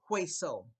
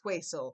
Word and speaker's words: hueso: never seen before, but you do know the H is not pronounced. So if you don't pronounce H, how would you pronounce this word for bone? If you said hueso, because you got a